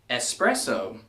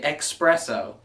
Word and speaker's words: espresso: me to number two espresso also doesn't have an X in it but I keep hearing people say expresso it's not express it's a completely different thing and you know what